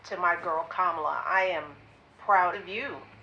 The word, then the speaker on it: Kamala: see how we say Camilla. Oh, no. I don't say Camilla. I learned how to say it. I've been saying it properly. Oh, is it Yeah, Kamala? it's like Kamala.